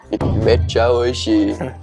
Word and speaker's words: めっちゃ美味しい: Ah, mecha oishii. Perfect. Good pronunciation.